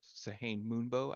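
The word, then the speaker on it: Sehanine Moonbow: uh, like Katha of the moon specifically, of Sahane Moonbow, I think is how you pronounce it.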